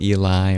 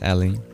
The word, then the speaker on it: Ellie: I remember asking if you prefer it pronounced Eli or Ellie, and I think you told me it was Ellie.